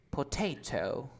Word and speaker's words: potato: Cuando tú pronuncias papa, tú dices potato. ¿Dónde está la fuerza de voz? ¿En po, en te o en tau? En ta. Ajá, que se pronuncia te.